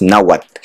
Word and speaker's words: Nahuatl: It's spelled Nahuatl, UATL. but you don't say the L. The T works as a break, so it's Nahuatl.